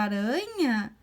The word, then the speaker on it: aranha: palavra aranha ó ué a aranha é fraquinho então é um r só aranha a gente colocasse